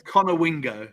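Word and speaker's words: Conowingo: So, Mike, where's Connor Wingo? Mike Swanson. Where is Connor Wingo, if that's how you pronounce it?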